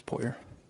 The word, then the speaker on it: Poirier: your name for the record please puer will you spell that p o i r i e r